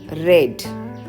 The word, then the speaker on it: read: the pronunciation is changed for present tense you have to pronounce it as a read and for past tense you have to pronounce it as red i read the